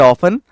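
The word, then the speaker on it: often: suddenly हमेशा always अक्सर ऑफन T silent होता है वहां पर बिल्कुल एब्सोल्यूटली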